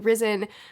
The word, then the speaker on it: Rysn: I actually don't know how to say her name correctly. I think it's Risen, which I was really happy